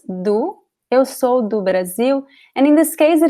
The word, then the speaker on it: Brasil: It ends with the letter L, which we do not pronounce, right? We do not say Brazil, we say Brasil.